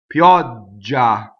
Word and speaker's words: pioggia: Pioggia, right? Pioggia, open O, double G. Pioggia.